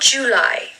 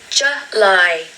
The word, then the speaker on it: July: Now the stress is on the second syllable with this word. July, July. Now we do not want to hear July. No, not July. You really just need to make the sound of J.